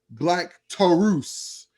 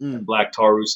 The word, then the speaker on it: Black Taurus: see it live um black tarus came out uh several people have asked me why his name is pronounced like that it's just in spanish that's all it is it's kind of like